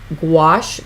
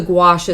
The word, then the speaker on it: gouache: here are the metallic gouache paint washes I always remember to say it like squash and they differ from